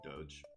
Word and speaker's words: doge: is soft john is right on the dog pronunciation doge young bung also says partyrock anthem has the